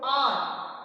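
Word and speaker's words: hour: अभी आप देखो कि जो आर है, इसकी जो प्रोनाउंसिएशन है आर की, वो हमें साउंड किस चीज की साउंड आ रही है, ए की साउंड आ रही है। लेकिन जो हमारा एच है उसकी साउंड तो आ ही नहीं रही है। इट मीन्स कि एच क्या है, यहाँ पर एच क्या है, साइलेंट है।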